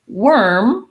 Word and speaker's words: worm: these two words um so worm even though it's spelled with o r has the e r sound so you might want to rewrite it like that um it's just like the word were we were plus an m so we